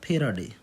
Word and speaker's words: Faraday: इसका नाम है फेराडे, फेराडे। यहाँ पर समझ में नहीं आया तो ध्यान रखना है इसकी स्पेलिंग FARADAY, फेराडे।